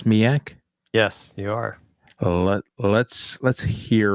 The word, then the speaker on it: SMEAC: Now, this acronym, am I pronouncing it correct? It's SMEAC?